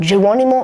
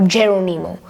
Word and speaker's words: Geronimo: Now you can pronounce it any way you want, Geronimo or Geronimo. I will pronounce it any way I want, so I'll go with Geronimo.